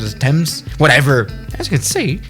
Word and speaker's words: Thames: course you're doing a landing here in the dems river right or is that how you pronounce it as thames whatever as you can see this does actually